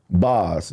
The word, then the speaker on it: Boz: Boz, B-O-Z, Boz or Bowles, however you want to pronounce it.